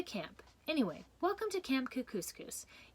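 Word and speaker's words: Kookooskoos: anyway welcome to camp cook couscous it rhymes with moose that's another good thing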